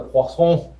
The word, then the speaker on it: Poisson: But I only took French, so this is the only time I get to use it in my whole life, is when I pronounce this distribution. So this distribution is known as the Poisson distribution.